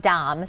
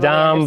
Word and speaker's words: Damm: about my last name because it's very easily mispronounced Lda mm yeah Dom so yes Dom but people said other ways or that one